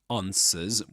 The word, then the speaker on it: answer: with this long a sound. The answer. Answer. The answer. The answer without pronouncing the final R because there's no there's no vowel sound right after it. Right after that final sound in the word.